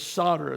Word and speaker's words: solder: It's got an L, but the L is silent.